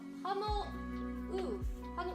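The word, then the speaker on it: Pummeluff: No, Pummeloof. Pummeloof. I remember that U's are pronounced as ooh and not like or anything like that.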